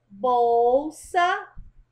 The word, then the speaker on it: bolsa: É, muita gente escreve bolsa com U por conta do som, mas bolsa é com L, tá? A pronúncia é que é de U, mas você escreve com L.